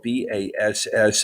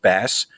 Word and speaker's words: bass: little thing here that uh even though it is spelled b-a-s-s this is not a fishing website this is a music website and so it's not pronounced bass it's pronounced bass i'm just saying so i'm